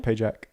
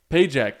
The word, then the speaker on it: Pagac: how do you say your last name payack payack that's sick that's a very military sounding last